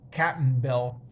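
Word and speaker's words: Cap'n Bill: cap and bill uh it's like captain bill but it's spelled with an apostrophe so it's captain bill uh and they they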